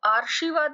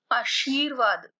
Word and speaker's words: आशीर्वाद: आशीर्वाद, अब देखिए इसको आशीर्वाद नहीं बोलना है, आशीर्वाद। र का उच्चारण कहाँ आ रहा है? शी के बाद।